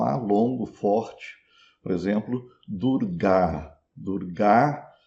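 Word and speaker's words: दुर्गा: Agora, se no rinde aparecer um a longo, no final da palavra, ele é pronunciado como um a curto. Então, o nome dessa deusa pronunciado em rinde é durga. Durga. um a curto e fechado, invés de durar, um a longo e aberto.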